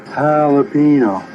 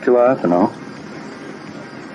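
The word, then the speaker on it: jalapeño: you for a bit sure jalapeno not gelato jalapeno that's how you pronounce I don't want to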